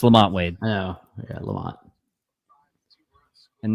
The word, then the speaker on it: Lamont Wade: playing like absolute ass lamante huh I like that I like how you mispronounce his name it's awesome lamante lamante so it's Lamont Wade I know yeah Lamont